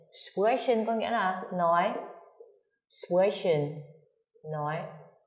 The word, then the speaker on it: sprechen: Sprechen, nói. Ở động từ này phát âm khá là khó. Sprechen nó có tận hai cái âm, âm phụ, âm gió. Sprechen.